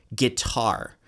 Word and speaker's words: guitar: to trust your ear think of the word guitar guitar it goes weak strong guitar thear is usually